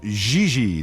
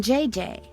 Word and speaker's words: Xi: No, I mean JJ. Xi. JJ F. You pronounce J like J and J like G. She may very well be JJ in America, but in France she is Xi.